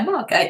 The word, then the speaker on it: Margate: it helen from sunnymargate margate yeah margaret that's the right way to say it wrote off so many